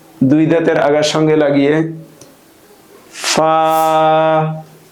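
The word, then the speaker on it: ف: صاد ضاد ط ظ عين غين ফা। ফার মাখরাজ হলো নিচের ঠোঁটের পেট উপরের দুই দাঁতের আগার সঙ্গে লাগিয়ে উচ্চারিত হয়। নিচের ঠোঁটের পেট উপরের দুই দাঁতের আগার সঙ্গে লাগিয়ে ফা উচ্চারণ করতে হয়।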